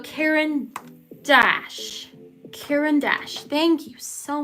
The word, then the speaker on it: Caran d'Ache: I've been saying Quran. Like, what? So Caran d'Ache.